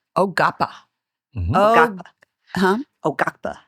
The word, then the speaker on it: Quapaw: So tell us about We call them the Quapas, but before the interview, you pronounced it correctly for us. How do you say Quapa in the name? Oapa. Oapa. Huh? Oapa. Ogapa.